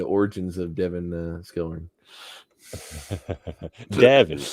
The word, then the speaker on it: Davin: of devin uh skillring davin is actually the pronunciation there oh thank you that's